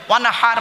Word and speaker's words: ওয়ানহার: এই গলার ভেতর থেকে এটা উচ্চারণ করবেন। ওয়ানহার মানে হচ্ছে নবী তুমি তোমার রবের জন্য নামাজ পড়ো, ওয়ানহার এবং কুরবানি করো।